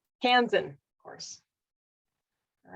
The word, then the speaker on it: Kansan: our our first and only so far can kansian how do you how do you say your kansan kansan of course all right you get to choose